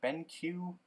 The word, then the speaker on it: BenQ: Ben Ben Q monitor Ben Q I'm pretty sure that's how you pronounce it because I heard somebody on YouTube say B it just didn't sound right and like everyone else said BenQ so I feel like he's wrong so I don't know